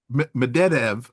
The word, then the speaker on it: Medvedev: was made by, and help me with the pronunciation. Is it Medved? I always say Medvedev. Medvedev. Medvedev.